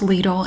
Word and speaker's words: Lidl: should do lidl as well and it is pronounced lidl in the usa i made a video about